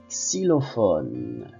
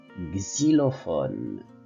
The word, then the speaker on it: xylophone: ville mexicaine une monnaie xylophone ou bien xylophone les deux prononciations sont correctes le son majuscule minuscule